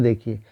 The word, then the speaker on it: the: जब कॉन्सोनेंट से पहले रहेगा तो द पढ़ेंगे, और जब वॉवेल से पहले रहेगा तो दी पढ़ेंगे।